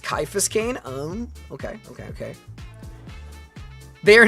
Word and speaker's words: Caiaphas Cain: Caiaphas Cain is pronounced Caiaphas Cain.